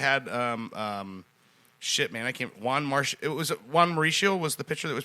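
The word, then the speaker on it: Juan Marichal: Juan Mauricio was the pitcher that was pitching for them.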